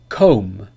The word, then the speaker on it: comb: pronounced for example dumb comb bomb thumb and climb there is no B sound in any of these words so be careful with